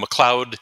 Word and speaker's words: McLeod: um McLoud Howard and McLoud is MCL EOD D which often people spell it phonetically and not that way um and so I'm